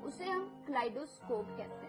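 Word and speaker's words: kaleidoscope: ये था first word second न वर्ड इज क्लाइडो स्कोप जी हां दोस्तों कलाइट स्कोप इसकी स्पेलिंग है के ए एल ई आई डी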